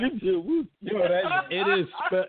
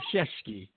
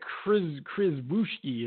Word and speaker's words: Krzyzewski: The way they spell his name, it has nothing to do with the way that name is pronounced. My man's name is Krzyzewski with no S's in it. Yo, no S's, no H's. My name is Krzyzewski. It's like Chris Wooshki or something like that.